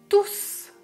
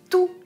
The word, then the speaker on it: tous: pas le s et si c'est un pronom règle numéro 2 je prononce le s je répète tout est